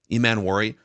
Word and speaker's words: Emmanwori: Is that how you pronounce it? Or Emmanwori? Emmanwori.